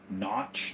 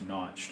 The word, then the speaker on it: Kynoch: You can buy old boxes from like the 50s and early 1900s, but they're by Notch, the brand KYNOCH, I think it's pronounced Notched or spelled.